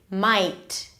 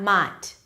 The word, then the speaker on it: might: I, my, might, okay, not might.